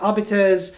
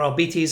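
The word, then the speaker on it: Arbites: Uh for example, the Imperial Navy, the Adeptus Arbiters or Albertes. I've seen it pronounced both ways to be honest.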